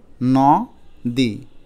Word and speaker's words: নদী: এবার এটা পড়ে দেখো তো নদী, নদী, কিন্তু আমরা তো নদী বলি না, আমরা তো বলি নদী। তাহলে নকে আমরা নো বলি, তো এখানে লিখতে হবে নো, লিখলাম নো। এখন দয় দীর্ঘইকার তো আমরা